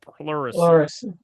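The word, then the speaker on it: pleurisy: The herb is actually called puricy. Okay. Plury. How do how do you spell that, Dr. Mhm. Pluracy. P L U R I S Y P L Excuse me.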